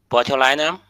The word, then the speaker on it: botulinum: Bulinam. So that's a pronunciation in the in the dictionary of this uh name.